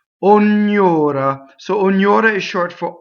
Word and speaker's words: ognora: Ognora. Because it's closed though. All the O's are closed, even the stressed one. One R, right?